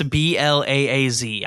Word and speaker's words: Blaaz: this guy's name again blaz or Blaze b-l-a-a-z I'm going with blaz because the double A makes it makes the a sound so blast blase no it's just blaaz okay blase is spelled